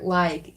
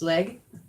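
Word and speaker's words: laeg: And they use this word leg or lag in the other dialects of Sindarin. But the wood elven pronunciation is leg.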